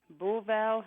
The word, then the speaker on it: Beauval: And we have reached you in, please pronounce the name of your town. Beauval, Saskatchewan.